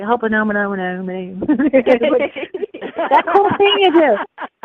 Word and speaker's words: Ho'oponopono: But Ho'oponopono, how's that?